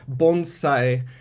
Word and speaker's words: bonsai: What is bonsai? I pronounce it like a Southern Californian. It's technically bonsai, and it loosely translates to tree in pot.